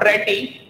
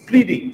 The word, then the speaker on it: pretty: It's not pretty, it's pretty. साथ में साथ प्रोनाउंसिएशन का ध्यान रखेंगे, I am pretty good.